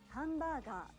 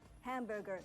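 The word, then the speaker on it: ハンバーガー: you won't be understood you don't say hamburger kudasai hamburger please instead you say hambagak rasai again number three over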